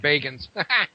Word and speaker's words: Bagans: It's pronounced Bagans.